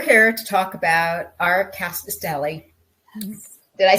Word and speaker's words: Rkatsiteli: um so we're here to talk about our cast Deli did I say it right you did you